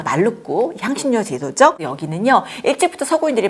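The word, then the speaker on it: Maluku: 그 다음이 말루쿠인데요. 몰루카라고 하는 그 섬의 인도네시아 발음입니다. 말루쿠 향신료 제도죠.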